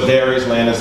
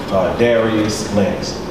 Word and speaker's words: Dadrius Lanus: So it's Dadrius Lanus. Oftentimes people see the extra D in the name, they, you know, they call it Dadrius, but yes, it is correctly pronounced. Dadrius Lanus.